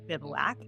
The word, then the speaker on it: Bivouac: So first question everybody asks, how do you pronounce it? Bivouac.